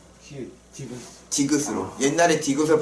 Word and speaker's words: 디귿: 그래서 이 뒤에 이가 붙든 을이 붙든 뭘로 발음을 하는 거예요?